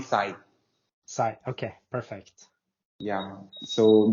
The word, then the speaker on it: Sai: yeah super easy so how do I pronounce the name correctly is it Sai or is it yeah you can call me Sai Sai okay perfect yeah